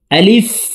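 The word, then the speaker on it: ألف: আলিফ আলিফ আলিফ হরফকে দ্রুতভাবে উচ্চারণ করতে হবে।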